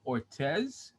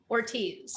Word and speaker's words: Ortiz: okay that's all right i know it's it's kind of a tricky name and it doesn't look good all the way it's pronounced so it's just ortiz oh my gosh i